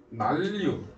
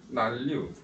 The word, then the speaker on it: 난류: 난류, 한류. 이거 뭐라 읽는다? 난류라고 읽는 거야. 난류라고 읽는 게 아니라 난류, 한류라고 읽는 거야. 난류, 한류 이따고 읽지 말고 자음동화 해야 된다고.